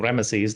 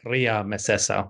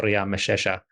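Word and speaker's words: Ramesses: They call him they don't call him Rammeses. They call him Ria messesa or Ria Mesha. So at least by the time of Rammeses I it may have been pronounced something more like Ria.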